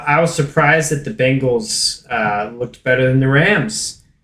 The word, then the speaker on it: Bengals: So, if my name is spelled Ben, you would call me Ban? Are you trying to give me shit for my Bengals pronunciation? Well, I'm like literally looking at Bengals, Ben. Ben. Yeah, not Bang.